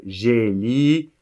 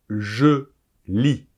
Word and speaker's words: je lis: ces petits mots grammaticaux arrêtez de dire jelly vous dites je lis bon la prononciation j'aurais